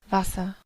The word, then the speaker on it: Wasser: Wasser, Wasser, Bien, Wasser, notarán que este termina con esto, termina con una A, no está usando la R.